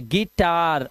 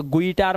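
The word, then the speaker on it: guitar: आगे देखिए, जब किसी वर्ड में यू आई आएगा तो यू आई का उच्चारण आपको ई करना है। जैसे ई, ध्यान रखना यू है लिखा लेकिन आवाज देखो ई, क्यों? आई आया हुआ साथ में थे। गिटार, अभी से गुइटार मत करना ना।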